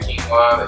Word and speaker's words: quinoa: Let's talk about quinoa.